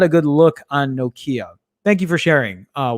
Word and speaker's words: Nokia: than anything else um deepak says in europe we pronounce it no nokia nokia am i saying that